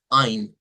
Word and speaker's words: ein: Se utiliza o se escribe diptongo EI, pero vamos a ver que la pronunciación debe ser con diptongo AI. De hecho, todas las palabras en alemán que lleven diptongo EI, nosotros vamos a utilizar el sonido I.